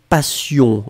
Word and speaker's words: passion: Ouais, Abir, vous avez mis passion aussi. Hein, faites attention, passion et patient. Finalement, la seule nuance, c'est la nasale. Vous avez entendu yon, yon, yon, yon. Et moi, j'ai prononcé yan yan yan yan.